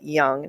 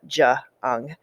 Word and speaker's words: Jung: And so Carl Jung, that's how you pronounce it, Jung, not Jung.